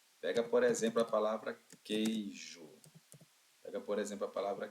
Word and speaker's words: queijo: Mas o U é pronunciado na palavra queijo. Por acaso é coejo? O U não é pronunciado na palavra queijo, pessoal.